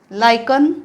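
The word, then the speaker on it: lichen: नटमेक जायफळ कार्डम वेलची लायकन हे पण वेगळं आहे लायकन उच्चार स्पेलिंग नुसार केला तर लिचेन होईल लिचेन उच्चार नाहीये लायकन लायकन दगडफूल मेस जायपत्री मस्टर्ड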